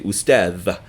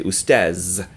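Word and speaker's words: أستاذ: they do that will they say ustadh. Most people will say ustaz instead because it's just a tiny bit easier to say that.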